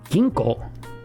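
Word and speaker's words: ぎんこう: Ginko. Ginko, and technically there's a U here, pronounced ginko, means bank.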